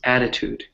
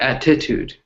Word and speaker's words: attitude: a little bit confused because the stress is on that first syllable its attitude right it's not it's not attitude it's an attitude right